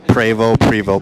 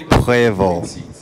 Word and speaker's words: Prevost: Not Prevost, but it's Prevost.